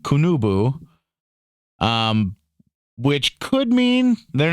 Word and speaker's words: Qunubu: They called cannabis, now this is spelled Qunabu, and the second one is Qunubu. They called it, and I'm going to call it this. They called it Kunabu and Kunubu, which could mean, they're